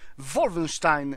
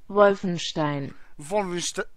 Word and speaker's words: Wolfenstein: graczy a więc pogram sobie troszkę w gierkę Wolfenstein jak to dokładnie się wymawia Wolfenstein Wolfenstein Wolfenstein Wolfenstein Wolfenstein jest to seria gier